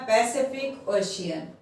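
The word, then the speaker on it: Pacific Ocean: ये वर्ड लिखा है पैसिफिक ओशियन। अब इसमें पहला जो सी है उसको हमने सा की तरह प्रोनाउंसिएशन किया है, दूसरे सी को का की तरह किया है, और तीसरे को शा की तरह।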